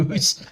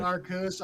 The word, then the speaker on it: Arceus: Arceus. I've never heard it pronounced like that. I pronounce it Arceus. I go through this with every new person I talk to. It is not Arceus. It is Arceus.